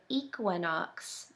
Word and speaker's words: equinox: out what that word equinox means. I'll give you a clue. The beginning of the word is pronounced equa.